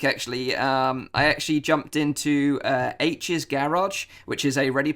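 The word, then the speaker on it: Aech: the virtual world but his best friend in the the book is called H and it's about a eech as in pronounce it as H but basically H has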